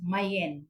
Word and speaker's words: main: mayen mayen sien Okay angya is m a i n saan pag sa English is main main pero sa ilah is mayen ang ilang pagpronounce sa